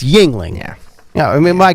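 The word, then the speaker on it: Yuengling: that's ridiculous but he doesn't know how to pronounce Yingling beer though who McCormick McCormick yeah y yangling yangling like dude it's Yingling yeah yeah I mean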